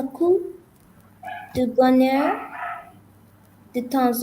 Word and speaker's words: coup: With coup, because there's no E, so you can't pronounce the P.